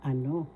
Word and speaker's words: ano: please say it again so ano first syllable a second syllable no the second syllable has the accent. So you say ano because means pronounce ano